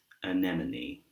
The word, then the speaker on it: anemone: But this word here is anemone.